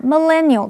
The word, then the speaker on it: millennial: 这篇文章的第一个重点，我们看 millennial 这个名词，M-I-L-L-E 这个字首有1000的意思，所以 The millennials 是指公元2000年左右出生的人，这样的人归属在所谓的千禧世代或者是 Y 世代。注意它的重音是在第二音节念成 millennial，常常用复数形。例如 One of the characteristics of